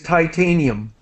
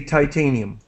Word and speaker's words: titanium: hear it and just my pronunciation of this word is titanium I say titanium okay and so does